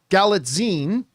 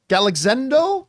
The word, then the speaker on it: Galitzine: Evil-Lyn, starring opposite, I always get his last name wrong, Nicholas Galitzine? Galexendo? I think it's Zine. Neagley? Stick with the first one. Okay, that one. That's Galitzine.